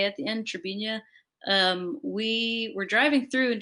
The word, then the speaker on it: Trebinje: there's a little town called Trebinje. It's spelled like with a J A at the end, Trebinje.